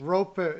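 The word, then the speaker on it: Roope: fun than calling him Roop Hinch. Ropo. It's Ropo. Roop. It's Ropo actually.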